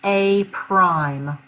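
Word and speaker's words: A′: You pronounce this A prime.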